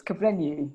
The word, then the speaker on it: Kugblenu: I have pronounced it right, haven't I? It's identifiably right. It's Kugblenu. So Kugblenu.